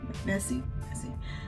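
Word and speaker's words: Messi: Yeah, Massey.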